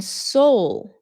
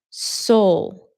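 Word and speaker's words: Seoul: I was born in Soul. And Koreans do not say soul. They pronounce it as soul. Soul, which is a little difficult.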